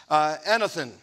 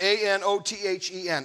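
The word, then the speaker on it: ἄνωθεν: Now, that is a very strong Greek word, and it's literally, it means, it's pronounced anothen. It's A-N-O-T-H-E-N, anothen.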